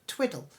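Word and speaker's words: Twydall: into a place called Twiddle. Now it's not twiddle as twiddling your thumb, it's spelled as Twyddall, and it's quite ancient, this place.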